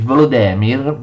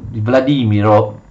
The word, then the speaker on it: Volodymyr: abbiamo fondamentale conversione di volo demir vladimiro come dicono giustamente ukraini moderne alla fede cristiana